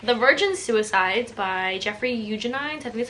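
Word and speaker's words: Eugenides: then i read the virgin suicides by jeffrey eugenine technically that's how you say it i said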